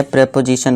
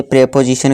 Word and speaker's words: preposition: तरफ, जो कि है प्रेपोजिशन ऑफ प्लेस। ठीक है दोस्तों, एक बात मैं आपको बताना भूल गया, प्रेपोजिशन की प्रोनाउंसिएशन। जी हाँ, इसे प्रेपोजिशन कहते हैं, इसे प्रीपोजिशन नहीं कहते हैं।